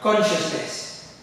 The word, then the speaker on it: consciousness: Now, the way it's written and the way it's being pronounced is completely different. For example, look at this letter S here. It's sound. It's almost sounding as a sh sound. Okay? So consciousness. Sh, consciousness.